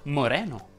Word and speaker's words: Moreno: angelica la pa aperta moreno vuole la è aperta se il tuo nome